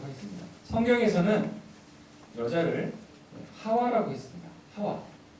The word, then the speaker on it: 하와: 이 하와라고 하는 것은 우리 영어 성경 보면 이브라고 하잖아요. 근데 왜 우리는 하와랄까? 근데 원어 성경에 보면은 이 하와라고 되어 있습니다. 하와. 그러니까 우리가 이렇게 발음하는 게 사실 원어 성경에 굉장히 가까운 거죠.